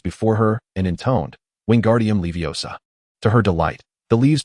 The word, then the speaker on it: Wingardium Leviosa: The incantation for the levitation charm is Wingardium Leviosa. Oh, relax now. The emphasis is on the second word.